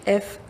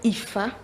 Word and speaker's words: Fâ: de ça le phare qui s'écrit fa à son circonflexe on dit le fa ou IFA c'est c'est un art